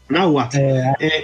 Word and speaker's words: Nahuatl: E os idiomas indígenas, por exemplo, eu não sei como é que pronuncia, Nahuatl, que era o idioma dos astecas, é assim que se fala? Nahuatl. Nahuatl.